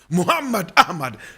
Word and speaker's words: Muhammad Ahmed: about some people will say Muhammad Ahmed correct pronunciation Muhammad Ahmed Muhammad Ahmad if you are ready this class will last